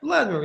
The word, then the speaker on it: Vladimir: That's how it's pronounced, or correct? yeah, Okay. mostly. Okay. You're Yeah. Huh? Vlad? Vladimir? Vlad? Yeah, Vladimir. Yeah, or Vlad.